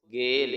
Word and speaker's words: gale: लाम की आवाज देगा, ई आखिर में आता है तो ये हमेशा साइलेंट होता है, इसकी कोई आवाज नहीं होती। ये बन जाएगा गाफ बढ़िए गे लामकुफ गेल।